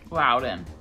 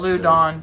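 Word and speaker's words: Loudon: what no it's County this one okay loud loud in say it again well then wow then it's not lewd on some people say Lou Don no they don't yes they do these are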